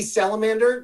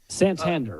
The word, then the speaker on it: Santander: season and so did anthony salamander did i say it right dan santander santander you're thinking of animals but he he's he's